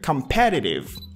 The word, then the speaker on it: competitive: here transformation on S competitive the stress is on the second syllable here competitive embracing ad competitive competitive